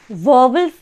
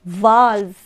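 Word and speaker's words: vowels: ये जो वर्ड है इसको हम वोवेल्स नहीं पढ़ेंगे इट is complete totally wrong it इज नॉट वोवेल्स right it इज वाल्स इट इज वाल्स why because यहां पे ओ जो है साइलेंट है राइट वाल्स वाल्स वाल्स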